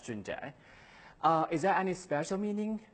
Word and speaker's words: Junjie: My first name, Junjie, is like the 6 months of the year, June. For the another part, is like Jack without K. So my name is pronounced as Junjie.